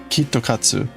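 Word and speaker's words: キットカット: Japan is that um in Japanese, KitKat to pronounce that in Japanese, it's Kito Kitosu. Kitokatsu and Kitokatu in Japanese means to like complete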